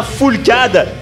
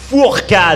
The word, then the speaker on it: Fourcade: Non, c'est pas Foulcade, c'est Martin Fourcade.